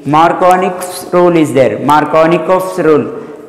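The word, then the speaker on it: Markovnikov: Here actually after Ni Markovnich's rule, you cannot see this is actually silent here K. Markovnich's rule is there.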